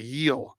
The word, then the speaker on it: Gil: I call it Gil, but you say it like that. So it's Luis Heel. Okay, Heel. So you say like the Spanish pronunciation.